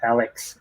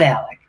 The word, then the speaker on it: Alec: own faux pas is I was calling you Alec, right? Alex, and instead of Alec. Yeah. Okay. I have family that get my name wrong, so it's okay. Yeah, and you told me, Ron, it's like smart Alec. That's how you say it.